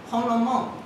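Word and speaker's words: 红楼梦: It's pronounced Honglomong.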